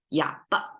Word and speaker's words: 哑巴: So 哑巴, you see, we will pronounce it as 哑巴. It sounds like almost ba, like falling tone, right? But that's a fully pronounced ba. But here it's slightly touch. 哑巴, very short.